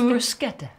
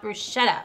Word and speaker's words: bruschetta: And it's bruschetta. Bruschetta would be the Italian pronunciation, not bruschetta.